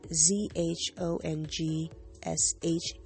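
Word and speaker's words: 钟书阁: I don't know if I know I'm going to pronounce it incorrectly, but it's Zhangshuj bookstore in Shanxing, China. Ugh, I know I messed that up. So ZhongShuge.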